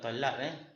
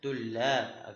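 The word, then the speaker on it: طلاب: Tu bukan talab tullab.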